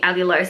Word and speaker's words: allulose: But honestly, if you just Google allulose, that's how you say it.